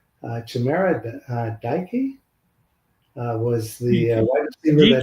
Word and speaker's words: Chimera Dike: I guess, and I'll destroy the pronunciation of his name, Chimera Dike was the wide receiver. DK, I think it's DK, but it's Dike. Correct.